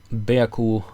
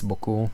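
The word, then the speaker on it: beaucoup: normal move thank you bayaku for the for the pawn of course i know how to pronounce french it's boku but i'm just joking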